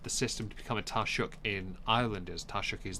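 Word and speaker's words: Taoiseach: other how complicated the system to become a taruk in Ireland is taruk is their prime minister essentially although it's spelled t a o IO s e a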